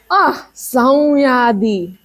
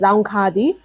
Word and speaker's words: Saungyadi: Up next is Saungyadi. It can also be pronounced as Zangkadi.